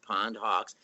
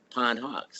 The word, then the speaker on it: Pondhawks: But anyway, what we did, we made it 2 words, Pondhawks, and we took the space out of the inside. So it's Pondhawks.